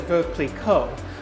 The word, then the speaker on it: Veuve Clicquot: - Whoa, and there's a massive bottle in there of Vee-vee, Vee-vee Click-Kwa. - Yes, sometimes people pronounce it Veuve Clicquot, but, you know, we make it our own.